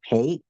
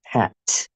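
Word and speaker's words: phaṭ: I said pay. It's It should be pronounced pat.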